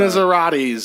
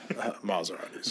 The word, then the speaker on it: Maserati: No, but he I was got on the- Maseratis or whatever. Maseratis. Maserati. No, that's how they say it in Italy.